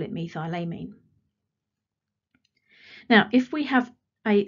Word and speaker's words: methylamine: suffix this is called methyl amine and it is all one word now some people might pronounce it me thylamine but methylamine is absolutely fine and there are other